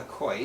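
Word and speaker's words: כוי: So the Gemara discusses a creature called a koi. Some people pronounce it kavi. It's kaf vav yud, and and says, well, that's bria bifnei atzmo, not chaya, not behema.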